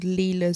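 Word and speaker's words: Lila: So, there's a a crossstitch designer on Etsy called Leela's Studio. Now, it's spelled kind of like Lyla, but it's Leela, but it's L I L A Studio.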